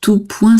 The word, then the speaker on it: tout point: Et du coup, on prononce pas le S.